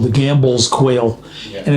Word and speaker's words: Gambel: here, is called the Gambel's quail. Yeah. And it's spelled Gambel for Joseph P. Gamble, who was a pioneer naturalist.